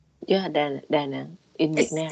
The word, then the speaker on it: Da Nang: This one, Dannon. It's Yeah. Da Nang in Vietnam.